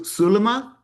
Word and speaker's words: Sulma: Um, no, that's not how you pronounce it. Sul Sulma. Sulma.